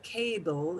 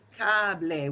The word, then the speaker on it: cable: We don't have silent letters like English. So it will never be cable, it'll be cable.